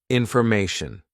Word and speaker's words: information: So, how does tyon actually sound? Because it's a T-I-O-N, right? It sounds something like this, shen, tion, okay? So just say shen, shen.